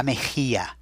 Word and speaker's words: mejilla: La mejilla.